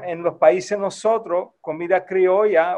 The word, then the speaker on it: criolla: In Spanish, the word is pronounced criollo or criolla.